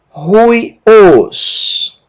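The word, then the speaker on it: υἱός: Y, iota, ui, mas a presença da aspiração forte altera a pronúncia do ditongo ui para rui. Rui, e a última sílaba, ômicron sigma, os. Ruios.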